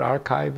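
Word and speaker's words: arXiv: paper he published he sent you know what archive is it's a place where peop it's a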